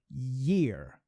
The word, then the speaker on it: year: Ear é uma coisa, a orelha. Year é outra coisa. Year, olha só, eu tô puxando um year.